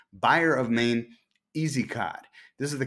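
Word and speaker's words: Byer of Maine: looking at the buyer of maine i keep mispronouncing that as buyers because i have a friend named bill myers but it's buyer of maine easy cod this is the cot that allows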